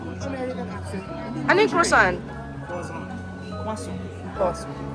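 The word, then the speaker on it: croissant: American ano iyung crousan. Kaso you almost never pronounce the last letter. Tingan mo try mo. Walang walang n.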